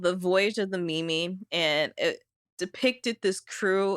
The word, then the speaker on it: MIMI: Is it MIMI? Yeah. Oh, because I was kind of loving the idea that it was meme, but you just pronounced it Mimi, and then it could